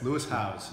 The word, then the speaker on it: Lewis Howes: this is leis house do I pronounce it well yes Lou house with my great French